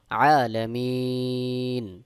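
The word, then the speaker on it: العالمين: যদি আপনি থেমে যান এক আলিফের জায়গায় তিন আলিফ টান দিয়ে পড়তে হবে সহি উচ্চারণ হলো আলামিন আরেকটি বিষয় জেনে নিই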